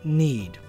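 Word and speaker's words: nȳd: in old english the rune is named need and in old icelandic and norwegian it's named now the both of these are related words with similar meanings though it is pronounced the same as modern english need its meaning they're related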